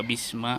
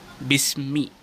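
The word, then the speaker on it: بِسْمِ: Mbak Jar Ismi majrur jadi bacanya itu bismik bukan bis Naya by itu yang menjerakan sedangkan Ismi yang disiarkan oleh harap baca jadi bacanya bisnis bukan Bisma kalau kita bahas Ismi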